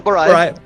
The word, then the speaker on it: Barayev: Barayev.